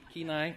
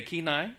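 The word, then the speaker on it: Kenai: and Alaska did I say it right ke keenai okay keenai right she's corrected me already twice tonight um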